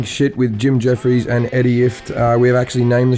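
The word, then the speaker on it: Ifft: And we've decided that we've talked Eddie into making his name second because it rhymes with shit. So if you go Talking Shit with Jim Jeffries and Eddie Ift, it works.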